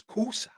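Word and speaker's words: Xhosa: is X or Kusa the word is Kusa but it's spelled x h OA cusa the cusa people in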